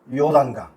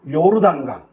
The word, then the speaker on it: 요르단강: 물이 강인데 그 강이 요단강 정확하게 발음한다면 요르단강 아래로 흐르다 뜻을 지닌